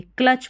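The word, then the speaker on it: clutch: सीधा सा है कि टी एच लास्ट में आता है। तो उसको आपको च प्रोनाउंस कर देना है। टी का उच्चारण नहीं होता है।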